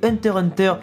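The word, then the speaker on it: Hunter × Hunter: avec l'extrait de l'animé hunter hunter de 1999 on ne prononce pas le x au milieu car en réalité se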